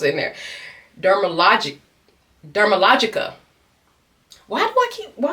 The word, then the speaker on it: Dermalogica: Dermal that why WHY DO I HAVE all them syllables in there? Dermalog. Dermalogica.